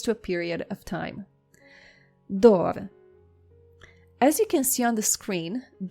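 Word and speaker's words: דור: Our next word is dor. Try to say after me. Dor. Dor means generation, or it refers to a period of time. Dor.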